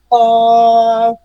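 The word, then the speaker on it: قاف: জিহ্বার গোড়া তার বরাবর উপরে তালুর সঙ্গে লাগিয়ে উচ্চারিত হয়। কফ, হ্যাঁ, কপ, ক, ক, ক, কপ।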